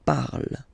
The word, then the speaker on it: parle: ending e, and then the way to pronounce it is je parle. Parle. So remember, we put it, okay, but then we don't really pronounce it.